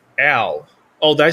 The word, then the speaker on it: Al: It's Al. Oh, did I say it wrong? It's Al. A-L. Like Al from like Fullmetal Alchemist Brotherhood. Edward's brother. It's Al. Not L. Al.